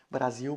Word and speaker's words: Brasil: e o u né Brasil por exemplo dá impressão que é escrito com u né ou mesmo o